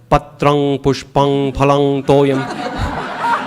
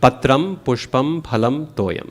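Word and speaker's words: पत्रं पुष्पं फलं तोयं: And so my suggestion to most people is just treat the M dot as an M. Because if you start doing patrang pushpang palang toyam, it's going to sound really weird. And people are going to think something's wrong with you. So just do it like an M and you'll be good. Patram pushpam phalam toyam, okay?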